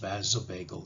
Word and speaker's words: vasovagal: I know the words don't look like it should be pronounced that way, but it's pronounced vasovagal syncope.